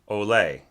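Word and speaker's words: olé: emphasis so uh the the word olay uh even though i'm not a spanish speaker by any means or any kind of expert um i am accustomed to hearing the accent on the second syllable olay right and in fact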